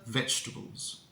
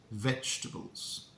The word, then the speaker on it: vegetables: do we pronounce it we say veg and then we imagine there are no vowels uh in the second half of the word so veg all together vegetables vegetables vegetables okay now let's practice